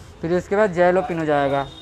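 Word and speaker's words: jalapeño: फिर उसके बाद जैलोपिनो जाएगा, इसे हम जैलोपिनो एलोपिनो बोलते हैं, जे साइलेंट में रहता है।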